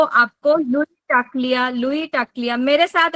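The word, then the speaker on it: Louie Tacklie: जीवन में प्रोस्पेरिटी आना चाहिए तो वर्ड है लुई टा क्लिया लुई टा क्लिया मैं स्पेलिंग बोल रही हूं एल ओ यू एल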